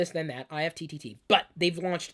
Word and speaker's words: IFTTT: If IFTTT. They say that they say you pronounce it IFT.